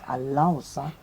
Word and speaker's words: Alausa: His name is actually Alausa. The right way to pronounce this is Alausa.